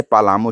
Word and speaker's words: पलामू: का नाम पलामू पड़ा जब अंग्रेज यहां आए तो ने उच्चारण में पलामू को पालामऊ लिखते और बोलते थे इसलिए अंग्रेजों के अनुकरण में बहुत से लोग इसे पालामऊ कहने और लिखने लगे पर सही उच्चारण इसका पलामू ही है सर्वप्रथम इस वन